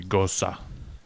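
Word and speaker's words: Gose: Oh, I've actually pronounced this wrong all the way, and the kid at the Bev always pronounced it Gosa, and that's how you're supposed to.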